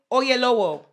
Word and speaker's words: Oyelowo: LET ME Let me pronounce it right. I did it wrong. David David Oyelowo.